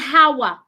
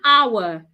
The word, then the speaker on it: hour: H sound to it take out the H sound hold your breath and pronounce the words without the H don't say how we have spent one hour it's one hour do not say the